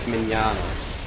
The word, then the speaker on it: Mignogna: It's actually Vic Mignogna.